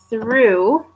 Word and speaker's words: through: Through, through, through. Of course, it's the clear TH sound, not the Z TH one, okay?